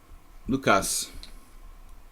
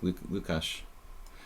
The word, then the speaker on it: Lukasz: Lukasz. I'm calling it Kash because it's like Hungarian, but I guess it's like Lukasz.